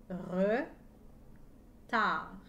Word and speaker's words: retard: cris e n retard j'entends chaque lettre d'un retard sauf la lettre d à la fin la lettre d et muette un retard écrivez en